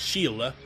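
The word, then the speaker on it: Síle: Beast hunting with someone whose name is spelled Sy but it's apparently pronounced Sheila so whatever pronunciation that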